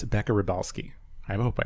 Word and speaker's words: Rybalsky: And it's Beccah Rybalsky. I hope I pronounced that right.